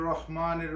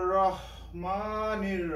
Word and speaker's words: রহমানির: ভাবে উচ্চারণ করি বিসমিল্লাহির রাহমানির রাহিম বন্ধুরা অনেকেই বিসমিল্লাহির রাহমানির রাহিম বলে থাকে এখানে রাহমানির হবে না এখানে হবে রহমানির এখানে রা হবে হবে